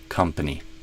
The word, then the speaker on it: company: Um, but yeah, I'd aim for kind of a come like the word come here. Come company.